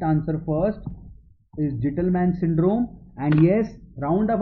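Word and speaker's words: Gitelman: Please call it Gittleman. Why? If you call it Gittleman, you pronounce T most prominently, and that is for thiazide, and you know the defect is in the DCT.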